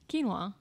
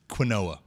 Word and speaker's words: quinoa: gotcha so what does what does this word sound like you might already know it you probably do know q UI Inouye quinoa not Qin OA so they told him